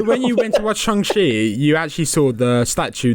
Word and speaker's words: Shang-Chi: I know it's an A, but I know it's got an A in it, but it is pronounced Shang-Chi.